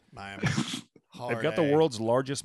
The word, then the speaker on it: Miami: Do have a town here that is spelled just like Miami, Florida, but it's pronounced Miami. Miami.